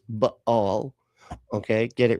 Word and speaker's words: Baal: not saying they're all bail worshipers." First of all, the the correct pronunciation is baal.